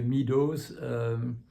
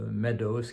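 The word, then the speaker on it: Meadows: prenons enfin les francophones prononce en général mal son nom il l'appelle monsieur Mido nos connaissons pas le mot maidose qui est l'amour anglais pour une prairie et qui donc voilà c'est un mot dont on sait comment il faut le prononcer monsieur maidos et son épouse ont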